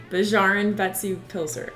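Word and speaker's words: Bæjarins Beztu Pylsur: We both don't speak Icelandic very well, but we think it's pronounced Bjarn Betsu Pilser.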